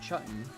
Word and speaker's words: Chudtown: I might be tripping, but Chudtown, pronounced Chutton, is going to win best base 2025, I'm afraid.